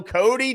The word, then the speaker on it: Coty: sounds good let's do it all right Cody Cody that's how you pronounce it correct okay all right cool Cody